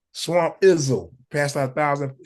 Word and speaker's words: Swamp Izzo: Swamp Izzo.